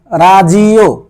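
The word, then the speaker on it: ラジオ: লেখা হয়েছে তেরেবি তেরেবি মানে টেলিভিশন তারপরে যায় রাজিও রাজিও রাজিও মানে রেডিও রাজিও মানে রেডিও তারপরটা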